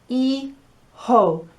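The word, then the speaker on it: hijo: sound no it's silent so the word for sun which is a really difficult word is ee ho you've got the e from the letter i and then j o makes a ho and so daughter is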